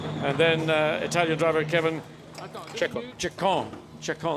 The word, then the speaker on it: Ceccon: And then Italian driver Kevin Ceccon, that's French maybe. It's a hard C and certainly Italian.